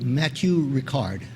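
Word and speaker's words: Matthieu Ricard: recent speakers uh John kabat Zin and Matthew Matthew Ricard that's how you say it Matthew it's good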